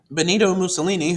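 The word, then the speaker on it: Benito Mussolini: that economic crisis well Bonito ini whose name rhymes with torini um utilized his power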